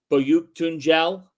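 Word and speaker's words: Büyüktuncel: They didn't get the performance that I think they would have liked to get last night in Berke Boyuktunjel. Yes, that's the pronunciation of that.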